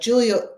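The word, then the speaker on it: Giulia: to me like like Julia in the book it's spelled g i u l a Julia that character was always Julia and um yeah you know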